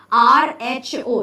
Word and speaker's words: rho: is this p no this is actually the Greek letter r h o it's pronounced as a rho okay this is row